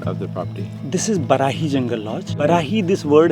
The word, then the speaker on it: Barahi: This is Barahi Jungle Lodge.